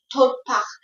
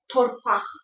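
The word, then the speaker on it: torpaq: Torpass. It's pronounced like this. Torpass.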